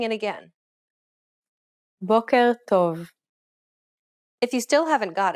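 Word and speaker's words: בוקר טוב: Many learners often struggle with this simple phrase because there's a growling R-like sound that is unusual for many speakers. Try pronouncing it again. Boker tov.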